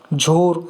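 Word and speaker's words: Jhor: ये गति सजेस्ट किया इंडिया ने, तेज किया, मुरासू, आग, व्योम, झार, झोर, इसे झोर पढ़ा जाता है प्रोनाउंस, प्रोबाहो, नीर, प्रभांजन, घुर्नी, अम्बुद, जलाधि, वेगा, ये कुछ नाम इंडिया ने सजेस्ट किए हैं, 13 नेम्स।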